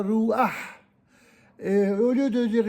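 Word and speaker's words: רוח: Au lieu de dire, par exemple, ruha, on dira ruah.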